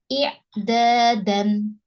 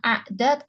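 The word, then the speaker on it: إعدادًا: seperti ini ya inyinya di kasrh i ya bukan a berarti bacanya i'dadan paham da dan harakat terakhir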